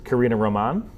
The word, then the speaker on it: Karina Roman: It's Karina Roman? Yes. Oh, I've been mispronouncing it this whole time.